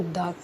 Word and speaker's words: the: ही फर्क होता है अगर कॉन्सोनेंट है कंसोनेंट साउंड है तो द प्रोनाउंस किया जाता है अगर वावेल साउंड है